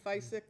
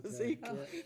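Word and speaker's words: Physik Instrumente: um GFI to bring I always say it wrong fisc or however you want physique instrument physique I always want to say fisc physique instrument into town which brings uh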